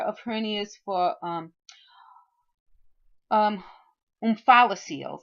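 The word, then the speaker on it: omphalocele: hernias for um um umphala seals that's how you pronounce this word umphala seals and the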